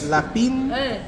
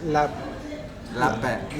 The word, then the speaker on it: lapin: And this is the lapine. Beet. Bon appetit. La beet. Beet. Beet. In Malagasy they call rabbit beet. Yeah. But in French, Lapin. lapin. Yeah. You don't pronounce the N.